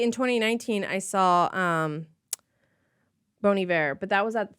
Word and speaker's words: Bon Iver: that is a 21 000 boniver boniver yeah bony bear like he won best album in like 2012 or something oh Bon Iver it's not Bon Iver that's how I read